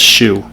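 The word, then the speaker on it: Shough: I don't care if his last name is Shuck. I'm not saying Shuck. It's spelled Shue.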